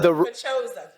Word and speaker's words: Paczosa: I don't know how, I still don't know how to pronounce his last name. Yeah, he was our engineer. But this Pachosa. Pachosa.